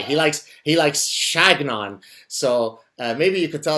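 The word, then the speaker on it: Chagnon: Uh, with his whole uh I say Shaon, but apparently he doesn't like when you pronounce it the French way. He likes he likes Shagnon.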